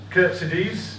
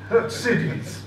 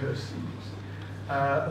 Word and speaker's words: Khurtsidze: We'll finish off with Tommy Langford and AVTANDIL Khurtsidze. I'm told that is the correct pronunciation. It should actually be Khurtsidze. Khurtsidze. There you go, Khurtsidze.